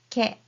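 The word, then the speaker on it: け: It is ke.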